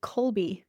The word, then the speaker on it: Kolbe: But I know that especially because I'm a certified Colby consultant. If you haven't heard that word, it's not surprising. I'll just spell it for you.